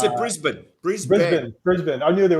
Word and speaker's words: Brisbane: start something in brisbane wow that's how you pronounce it brisbane yeah it's in brisbane brisbane brisbane i knew there was a special